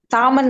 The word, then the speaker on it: salmon: சாமன் சார். பாருங்க, ஒரு சால்மன். சாமன் பாருங்க. Salmon. Salmon. சாமன். Salmon. salmon, salmon, salmon, salmon, Salmon. salmon, பாருங்க, எல்லாம் கட் பண்ணிட்டாங்க, எல்லாம் உச்சரிக்கவே இல்லை.